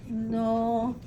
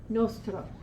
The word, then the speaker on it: nosotros: It comes out nostro, which is totally wrong, not a word, okay? We don't see it because our brains are telling us you don't have to pronounce that, or it's a silent letter, or who knows what, right? Like English. No, it gets the stress. So you're going to say nosotros.